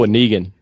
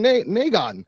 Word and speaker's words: Negan: there's no negan yeah i'm going with negan but these people were saying negon noggin one of those things again where you you take a word that everyone can pronounce and you it up i wouldn't except i heard someone else pronounce it completely different and i was like what no it's negan anyways what's up what's